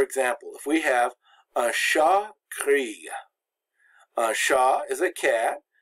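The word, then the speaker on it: chat: the e is silent sha the T is silent the CH makes the SH sound always in French but when you add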